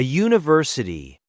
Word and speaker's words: university: A university because it sounds like you. That U sound is a consonant sound.